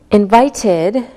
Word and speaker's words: invited: When the last sound of a word is a D or a T sound, we pronounce the ED like id. Listen again. Invited, invited, so it sounds like ID.